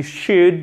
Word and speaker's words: should: On ne prononce pas le L, évidemment, on ouvre bien la bouche. You should listen to her.